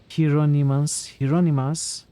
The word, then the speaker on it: Hieronymus: Not sure about the Greek pronunciation, but it's commonly pronounced Hieronymus. Okay. Hieronymus.